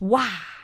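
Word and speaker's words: 哇: Okay, the thing is, in English, you say wow. So there is a wu sound at the end of the wow. In Chinese, it's just wah.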